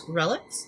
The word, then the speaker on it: R'lyeh: Lovecraft also refers to R’lyeh in The Mound as Relex. Its possible names are Relex, Ryche, Ryah, and Arlyeh. R’lyeh is the way I pronounce it because its an alien fictional language and I cant force